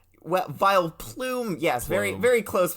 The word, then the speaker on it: Vileplume: you didn't and that that is of course vile plum well vile plume yes very very close pronunciation V you know because it's it's it's